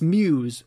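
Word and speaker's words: Meaux: and this is a very difficult abbey to pronounce it's m-e-a-u-x like a french word wow so i would have said mo or something like that like bordeaux yeah but it's muse like bordeus and uh it's near beverly if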